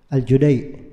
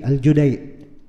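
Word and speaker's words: الجديع: Padahal nama orangnya Abdullah bin Yusuf Al-Judai, bukan Al-Jadi, Al-Judai. Iya. Kalau tanya kenapa bacanya Al-Judai, ya begitu yang kita dengar dari guru, dari orang-orang, dari orang Kuwaitnya cara bacanya.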